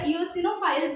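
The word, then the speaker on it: eosinophils: Again पूछा हुआ question है, इओसिनोफिल is also known as एसिडोफिल्स, ठीक है। कुछ लोग इसको एसिडोफाइल्स भी बोलते हैं या इओसिनोफाइल्स भी बोलते हैं, तो वो आपके प्रोनाउंसिएशन पे वेरी करता है।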